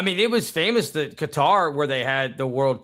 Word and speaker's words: Qatar: Qatar, Cutter, whatever you call it, whatever you pronounce it. Q A T A R.